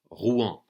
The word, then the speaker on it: Rouen: there that the major city of Normandy is Ruan r u n it's pronounced hu in French and that's the city that we're